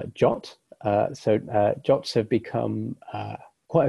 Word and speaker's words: JWT: a moment next is JWT JSON web token it's often pronounced jaunt so jobs have become